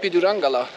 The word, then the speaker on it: Pidurangala: I'm going to the small rock, Pidurangala. Finally, I know how to pronounce it. Are you the guardian of Pidurangala?